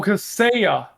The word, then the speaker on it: Kaseya: I think it's Kaseya. I have no clue. Um, I and Oh, Kaseya. That's how Kaseya. you pronounce Okay.